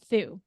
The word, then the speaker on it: Thu: and even in college I would say th but then when I moved to Phoenix Arizona where there's more Vietnamese people and there's a big bigger Vietnamese Community a lot of the people who say my name say to and that was when I was like M I was like oh my God like have I been saying my name quote unquote wrong this whole time because